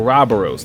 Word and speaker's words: Ouroboros: Villain is revealed the world devouring serpent or Robos that's how they pronounce it in the game and if I